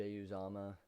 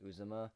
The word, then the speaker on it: Uzomah: Uzomah. I think it's pronounced Uzomah. A lot of people would say Uzoma, or if you're White's World, you say Uzama for some reason.